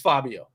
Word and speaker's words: Fabbio: So the actual way to say it is Fabbio. Just like the dude that Fabbio.